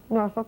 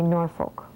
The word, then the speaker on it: Norfolk: norfol Virginia right because I say norfol because they haven't yet heard that we were talking about regions and the way pronunciations are so different now I think in Minnesota we would say Norfolk and if I went to Virginia and said that nobody would know what I was talking about someone would say Oh